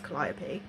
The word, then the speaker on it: Calliope: And I know I don't pronounce things great, but I am listening to the audiobook, so I do know it's Calliope.